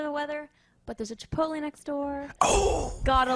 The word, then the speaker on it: Chipotle: this subject I'm a Chipotle I'm a Chipotle like with the l e at the end like just like the way it's spelled it makes sense that way yeah chipot I had